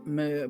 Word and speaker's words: Mihr: So the first thing to know about Mihr is actually her name is pronounced Mihr, but technically speaking as in mermaid. However, for some reason I still call her Mihr.